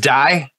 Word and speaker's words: Dai: Well, the reason I pronounced it right, have you ever heard of Dai Vernon? Yeah, Dai Vernon.